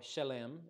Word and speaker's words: Salem: and melchizedek king of salem or shalem as it said or pronounced in hebrew brought out bread and